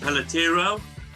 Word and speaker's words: Peletiero: My guest today is Manu Pelletero. Have I pronounced your surname correctly, Manu?